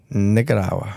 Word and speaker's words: Nicaragua: Nicaragua.